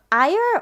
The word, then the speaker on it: Ire: next up we have ire or ear I think I'm good with ear it looks like it's pronounced ear ear at the Valkyrie